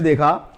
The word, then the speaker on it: though: इसी प्रकार से ये दो, THOUGH, दो, ये सेंटेंस में इसका GH का उच्चारण नहीं होता और इसका अर्थ होता